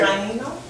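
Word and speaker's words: Taíno: Okay, so let me give you the pronunciation of it, okay? Taino?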